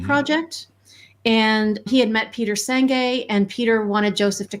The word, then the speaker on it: Senge: And I've been pronouncing his name wrong all these years, evidently, too. Yeah, Peter Senge. Senge.